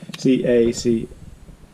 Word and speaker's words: cacao: I never know how to pronounce that word. C-A-C-A-O, cacao.